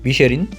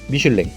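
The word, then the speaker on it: Michelin: 발견하는 전국 여행 안내서입니다 미쉐린 미슐랭 어떤게 맞는 말인지 궁금해하시는 사람들도 있는데요 한국에서는 미쉐린을 정식 표기법으로 사용하고 있지만 프랑스어로 미슐랭 영어식 발음으로 미쉐린을 사용하고 있어 둘 다 맞는 말입니다 미슐랭 가이드는 타이어를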